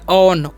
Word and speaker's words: on: क्या पढ़ते हैं जी इसे हम लोग पढ़ते हैं ऑन ओन नहीं पढ़ना है इसे ऑन पढ़ना है ऑन का मतलब क्या